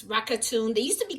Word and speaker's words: Rakuten: Now, as you can see right here in the corner, I have something called Rakuten. I don't know how you say it, and it's Rakuten.